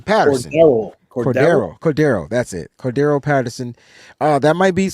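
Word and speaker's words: Cordarrelle: cord however you say his name Patterson Cordo Cordo that's it Cordo Patterson uh that might be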